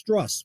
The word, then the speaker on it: Strus: The people nationally call him Max Struss, which reminds me with fuss and muss. Words that obviously don't ring a bell like juice, loose, or moose.